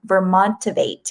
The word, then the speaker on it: Vermontivate: She was the co-founder and executive director of the award-winning climate and sustainability game Vermontivate.